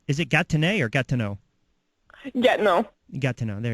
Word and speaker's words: Gatineau: I did a boxing event a couple years ago, and they kept telling me I was mispronouncing it the wrong way. I kept saying, is it Gatineau or Gatineau?